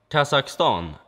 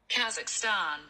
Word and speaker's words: Kazakhstan: How do you pronounce Kazakhstan in English? Kazakhstan.